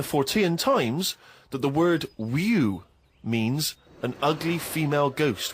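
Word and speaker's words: wewe: Is that how am I pronouncing that right? Who's using that word? Who is using that word? It was just W-E-W-E. Let's call it a woo.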